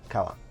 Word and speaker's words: Kaua: And is that how it's pronounced? Kaua? Mhm. Yeah, Kaua. Kaua.